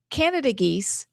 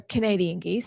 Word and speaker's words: Canada geese: And then the our Canada geese, it's actually how you say it. You don't say that they're Canadian geese. I was corrected by somebody, which makes me sad. I want to call them Canadian geese.